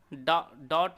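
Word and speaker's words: doubt: जैसे यहाँ पर साइकोलॉजी में पी यहाँ पर साइलेंट है, डॉट में आपका बी है। इसी प्रकार से नॉलेज में डी जो शब्द है वह साइलेंट है, परंतु कैटल में कोई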